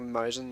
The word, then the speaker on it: Maus: It's spelled Mousegen, but it's not pronounced Mousegen. It's pronounced like Mausen or something like that.